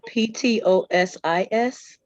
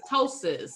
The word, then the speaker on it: ptosis: p is silent the p-t-o-s-i-s which is ptosis ptosis p is silent all right um which